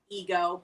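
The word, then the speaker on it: Eggo: a character named ego his name is pronounced ego but his name is spelled e g g o and it teaches kids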